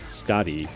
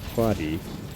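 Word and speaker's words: Skaði: released a new god, Scotty, or maybe it's Quadi. I don't know. Sometimes Swedish, the SK is pronounced as the SJ, which is a throat sound.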